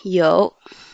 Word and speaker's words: 有: Tout d'abord, 有. Y prononce I. OU prononce O. Avec le troisième ton, ça fait O.